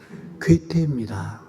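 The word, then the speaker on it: 괴테: 또 발음이 잘못돼서 동태는 아니고요. 괴태입니다.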